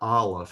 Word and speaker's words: aleph: This letter Aleph has no sound of its own. Because it's called Aleph, you might think it would have the ah or the a sound, but it actually takes the sound of the vowel that follows it.